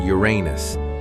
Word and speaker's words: Uranus: Now, let's take a sharp turn toward Uranus. Yes, that's how it's pronounced.